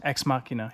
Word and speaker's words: Ex Machina: Is that how you pronounce it? Ex Machina, yes. We just saw it. Like Deus Ex Machina.